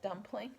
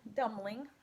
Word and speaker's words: Dumbling: well ho ho left dumpling dumbling not dumpling but it's almost spelled the same here's a fine gift